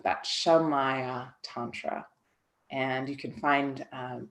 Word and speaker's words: Shamaya: word shamaya Tantra so it's a tricky word it's spelled s h m a ya a so you've heard of Maya uh the illusion m a ya a you just put a a sha on the front of that shamaya Tantra and